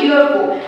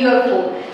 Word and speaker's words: UFO: UFO, অর্থাৎ এই যে এটা উচ্চারণ কি রকম হচ্ছে? এরকম হয়ে যাচ্ছে, এরকম হয়ে যাচ্ছে, অর্থাৎ ওয়াই এর উচ্চারণটা চলে আসছে। এমনিতে ইউ তো আছে ভাওয়েল অ্যালফাবেট, কিন্তু সাউন্ডটা কিন্তু আর ভাওয়েলের মতো হচ্ছে না। সাউন্ডটা কি রকম হচ্ছে? সাউন্ডটা কনসোনেন্টের মতো হচ্ছে।